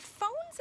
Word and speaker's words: phone: phone to record, but phone's a special word because it starts with a F sound, but it is actually spelled with a PH. So that's one of those special sound combinations that it doesn't look like an F, but it sounds like an F for phone.